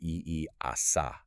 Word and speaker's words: EASA: Like the European Union Aviation Safety Agency, that one is pronounced as the word EASA.